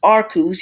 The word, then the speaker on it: Arceus: You're not great, but and next up, finally, last but not least, Pokemon Legends Arceus. Yes, I did pronounce that correctly.